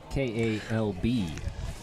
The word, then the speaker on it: Kalb: K-A-L-B. Kalb. That's what we're going with. Yeah. Until it's too hard to pronounce.